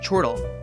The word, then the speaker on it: chortle: In chortle, we can intuit a reasonable way to say it from words like chore and turtle.